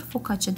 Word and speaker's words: Focaccia: Focaccia diye yazılır, focaccia diye okunur. Bu bir İtalyan ekmeği, aynı zamanda bir İtalyan pizzası da denilebilir.